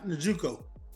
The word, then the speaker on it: Njoku: Njoku.